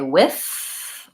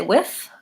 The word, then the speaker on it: with: wants to know how I pronounce the word with do I say with or with I personally say with but they're both correct so I would say